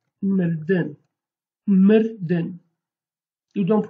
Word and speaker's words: mirdin: But if I say to die, we basically say mirdin. Mirdin. You don't pronounce this I. This I is called bizroka. You don't pronounce it, but you write it.